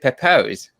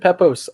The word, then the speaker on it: Pepose: special guest today uh david papose is how you say your name yeah david peppo's right here thank you thank